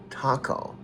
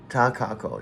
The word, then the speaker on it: Takako: Ka, takako. No. Right. I was pronouncing Takako like the Mexican food taco when it should be Takako with 3 syllables.